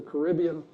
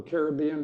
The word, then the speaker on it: Caribbean: You still had to get out of the Gulf and you had to get through the Caribbean or Caribbean, depending on how you like to pronounce it.